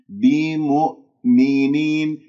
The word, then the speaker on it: بمؤمنين: غير كز يعني بسلاسة بمؤمنين الميم مضمومة همزة بعدها ساكنة، لا تسحب ضمة الميم إلى الهمزة الساكنة، تقول بيم نطقت الهمزة ولا زالت الشفاء مضمومة، رجع الشفاء إلى الوضع الطبيعي حتى تنطق الهمزة من غير شائبة من الحركات. والهمزة لا تقلقلها بمؤمنين، ولا تنطق همزتين بمؤمنين